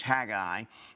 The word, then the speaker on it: Haggai: to my childhood but the correct pronunciation is haggai and we'll i'll do my best to try to pronounce it correctly this is a picture